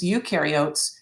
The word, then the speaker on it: eukaryotes: no nucleus eukaryotic organisms eukaryotes you rhymes with do which means they do